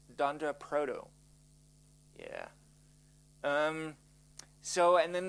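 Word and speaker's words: __proto__: Proto uncore uncore and that is pronounced Dunder for double underscore so it's Dand Proto yeah um so and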